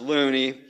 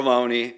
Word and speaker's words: Looney: unfortunate Delia bacon or the surname of John Thomas Looney or Loney however you prefer to pronounce it as one who found